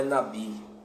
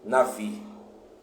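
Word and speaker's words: נביא: sim a letra Vet que tem o som de v e não de B sendo assim o texto hebraico nos mostra que a o a palavra profeta não é Nabi mas é Navi uma pronúncia de um v e aqueles que a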